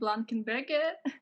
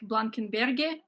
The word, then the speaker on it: Blankenberge: Here in Russia, we pronounce it like Blankenberge. We heard something like Blankenberge, and it's also fine. We say Blankenberg or Blankenberge, but Blankenberge, something like that.